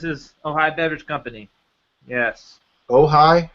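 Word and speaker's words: Ojai: what town is he in in California um ohigh that's why this is ohigh Beverage Company yes ohigh how do you spell that oh o j AI we uh were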